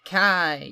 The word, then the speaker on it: Kai: when it was icy it's pronounced Kai you uncultured yank although we do get